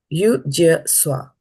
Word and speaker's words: yujyasva: I'm just thinking whether it becomes easy for you to pronounce it this way. Yujyasva.